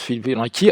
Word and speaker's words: Fibonacci: Alors on m'a dit que ça se prononce Fibonacci.